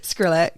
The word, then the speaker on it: Skrillex: No, because I'm old and trust me, Skillrex I listen- has Bangarang, and that's the only Just song. say that one again. Who is it? Skrillex. I don't know. How do you say it? Skrillex.